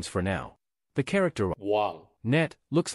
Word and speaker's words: 网: 网, 乌, 昂. 网, 乌, 昂.